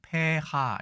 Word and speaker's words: 폐하: 전후로 해서 간략하게 설명드리겠습니다 자 일단이 글자는 우리가 폐하라고 읽습니다 예 발음이 어렵기 때문에 페하 이렇게 읽지만 앞에는 장음으로 되어 있네요 뜻은 황제나 황후에 대한